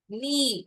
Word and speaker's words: knee: knee, முட்டி, knee, முட்டி, K is silent.